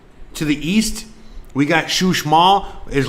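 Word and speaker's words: Uxmal: and a half to the east we got shush mall is like an hour to the south you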